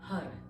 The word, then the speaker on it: Har: it's the mantra of har and it's spelled h-a-r but it's pronounced with that sort of spanish sounding r so it's circular it's round it rolls in the mouth okay and you're using